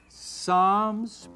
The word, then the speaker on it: psalms: promise no it's proverbs the p is silent psalms problems not proverbs psalms